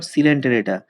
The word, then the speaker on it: Coelenterata: Porifera, Cnidaria or সিলেন্টেরেটা। Pronunciation ভালো করে মনে রাখবে, Cnidaria or সিলেন্টেরেটা, Cnidaria or Coelenterata, Platyhelminthes, Nematyhelminthes, Annelida, Arthropoda, Mollusca and Echinodermata.